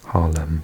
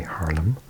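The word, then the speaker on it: Haarlem: budding Dutch speaker so I'm going to try and pronounce them properly and not say Harlem but say Harlem um and then we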